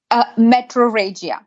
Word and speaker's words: metrorrhagia: And then the next one I wanted to cover was metrorrhagia. Is that how you pronounce that? Metrorrhagia.